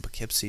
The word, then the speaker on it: Poughkeepsie: This is an article coming from Poughkeepsie Journal.